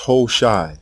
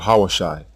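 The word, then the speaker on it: Hoshea: for these two sounds the king's name is pronounced hosai not hos or hawashi hoai this evidence proves the letter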